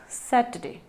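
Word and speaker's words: Saturday: Friday, it's सैटरडे, सैटरडे, सैटरडे, are silent, ठीक है।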